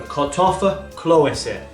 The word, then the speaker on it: Kartoffelklöße: So, today's dish is the comforting boiled German potato dumpling, and that's pronounced as the Kartoffelklöße.